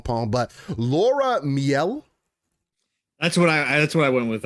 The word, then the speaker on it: Miele: But Laura Miele. That's what I went with. I went with Mealy. So Mealy? yeah. Laura Mealy. I'll say Miele because it kind of makes an E, whatever. Laura Miele, EA's chief studios officer,